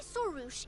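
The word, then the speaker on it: Sorush: And that's how it's pronounced. You know this red floating being? Excuse you! I, Sorouche, am a noble Pari, and the Bloom Guard of Quarina.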